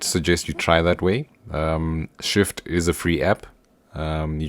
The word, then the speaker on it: Shyft: So yeah, like guys, if you can get the Shift app, so Shift is spelled SHYFT, from the Play Store.